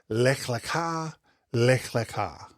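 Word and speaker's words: Lech Lecha: Lea lea, it's pronounced lea.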